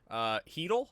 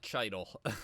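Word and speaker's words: Chytil: Heedle, is that how you pronounce his name? I think it is. Not Cheidel.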